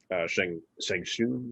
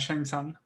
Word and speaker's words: Shang Tsung: they showed him going through the years as Shang Shun, is that how you say it? Shang Tsung.